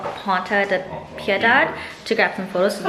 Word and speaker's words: Piedade: Piedade?